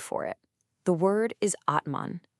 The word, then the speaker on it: Atman: The word is Atman. It's pronounced Atman.